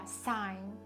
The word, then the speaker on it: sign: あとは Sign、 Sign、これも発音しないですよね。